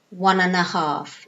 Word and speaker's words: one and a half: one and a half listen to the pronunciation okay one and Earth one and a half so again and becomes mm one half one and